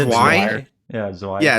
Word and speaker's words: Zwei: Oh, Sway. Oh, I thought you said Sway, not Zway. Okay, sorry. Yeah, I heard Sway too, not Zway. I like Sway. It's just like it's pronounced Zwei.